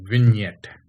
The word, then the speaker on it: vignette: the default gallery app vignette that's what that's how it is pronounced okay uh g is silent okay so win yet okay it is a